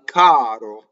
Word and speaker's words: caro: Al caro. So A-L, al. Very simple principle, right? We have an A and an L. Caro. Notice that this R does not roll. Why? This R is between two vowels.